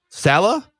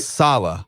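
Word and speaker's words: Saleh: for it robert sala salah all right salah i'm going to just the new head coach phonetically the pronunciation that i found is capital sal hyphen small you what what what would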